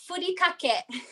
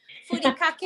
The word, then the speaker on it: furikake: We pronounce it furikake. Furikake.